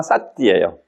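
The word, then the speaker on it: sati: 원문이 뭐냐 하면요, 쌈마 싸띠예요. 싸띠. 그 염자가 쌈마 앞에는 정 바르다는 뜻이고, 그 싸띠라고도 하고 사띠라고도 발음을 하는데, 이게 위파사나 하는 분들이 이제 싸띠라는 말을 많이 해요.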